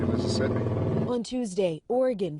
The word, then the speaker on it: Oregon: Mississippi" (gfx) ON TUESDAY, OREGON (pronounced or-ih- gun/not or-ih-gone) BECAME THE FIRST STATE TO DECRIMINALIZE POSSESSION OF SMALL AMOUNTS OF HARD DRUGS, LIKE COCAINE, HEROIN AND METHAMPHETAMINE .